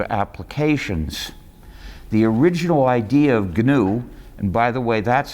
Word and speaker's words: GNU: many areas of applications the original idea of gnu and by the way that's how you pronounce it don't say gnu it's takes too long people won't want to